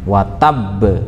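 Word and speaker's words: وَتَبَّ: Di sana ada tanda tasydid yang tekanannya itu enggak seperti pada ayat biasa, pada huruf-huruf seperti pada sesudahnya, tapi dia lebih ada penekanan. Watab, ya, seperti itu.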